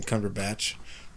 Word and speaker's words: Cumberbatch: bit more positive uh cumber bot that's how I'm pronouncing his name even though people in this podcast are calling him Cumberbatch I call him cumber botch cumber just have our